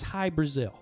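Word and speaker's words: Hy-Brasil: people might be asking what's high brazil no it's not brazil the country this is something different it's spelled hy hyphen b-r-a-s-i-l and what this is what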